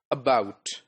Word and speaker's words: about: Look at this word about. It got two syllables, right? Schwa in the first syllable, and bout in the second syllable.